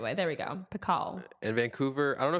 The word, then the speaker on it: Picault: Pico.